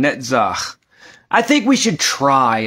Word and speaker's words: Netzach: of people pronounce it netz net the letter never makes a k sound it does not however